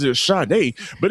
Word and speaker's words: Sade: Well, let's pron it's she pronounced it as Shade, but it's spell Satie. We going to call you Satie, girl.